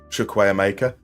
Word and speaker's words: Chukwuemeka: spent a long time making sure that I knew how to actually properly pronounce Chukwuemeka, and not the way that English commentators pronounce it.